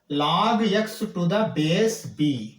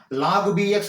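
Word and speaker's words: log x to the base b: इसको क्या बोलना है log x टू द बेस b। ये ऐसा ही प्रोनाउंस करना, ये दूसरा साइड से आपने log bx बोल के नहीं बोलना, वो गलत है ठीक है ना।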